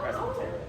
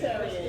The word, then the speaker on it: pescatarian: Oh, Presbyterian. okay. How do you say it? Yes, just fish. Pescatarian.